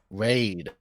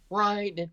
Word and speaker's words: Raid: Raid. Okay, Yeah, interesting. raid in English. It's pronounced ride in Finnish.